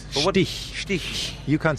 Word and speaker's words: Stich: Now, am I pronouncing that correctly? Stich? No. What is it? Stick? Stich. Is it Stitch? No. Because I've always thought it's Stitch, and therefore... I thought it was Stitch.